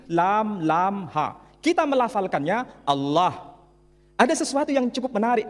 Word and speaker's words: Allah: Tidak ada seorang pun di kalangan masyarakat Timur Tengah ketika menjumpai istilah Alif, Lam, Lam, Ha dibaca Allah. Tetapi mereka serempak menyebutnya dengan pronunciation Allah. Menyebut dengan sebutan Allah.